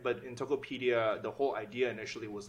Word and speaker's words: Tokopedia: How do you pronounce this? Tokopedia? Tokopedia, yeah.